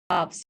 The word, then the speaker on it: halves: So this is all calf, calves, calves, calves, half, halves. Please focus on the pronunciation. Don't pronounce L in these words.